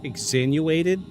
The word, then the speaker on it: exsanguinated: exsanguinated There we go.